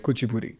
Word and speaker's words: Kuchipudi: What is Kuchipudi dance? Or am I saying it right? Kuchipudi.